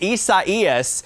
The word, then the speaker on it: Isaias: been put putting off the pronunciation here but it's isaias is the tropical storm with